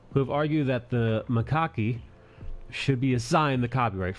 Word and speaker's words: macaque: Macaque.